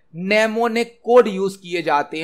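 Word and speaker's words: mnemonic: है assembly language मां name ने कोड उसे किया जाते हैं नमो ने कोड असेंबली लैंग्वेज मां नाम कोड उसे किया जाते हैं एम साइलेंट होता है किसी शब्द का शॉर्टकट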